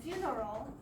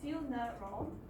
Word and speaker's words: funeral: And then funeral is also funeral, 3 syllables. However, if you pronounce it very quickly, it's funeral. So there's only 2.